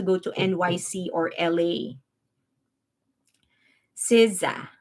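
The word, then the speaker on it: SZA: to NYC or La siza is how you pronounce it yeah so hot one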